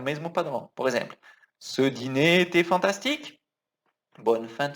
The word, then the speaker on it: dîner: Ce dîner, cuidado aqui, essa palavra a gente fala dîner. Cuidado com a pronúncia do dinner, do inglês, tá?